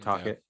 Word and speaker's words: Tocchet: Tocchet.